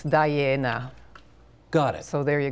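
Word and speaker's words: Daiene: So if you sound it out as an Italian word, it's Diana.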